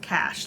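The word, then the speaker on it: cache: a c h e I think it's pronounced cash like a a cash of weapons just she started crying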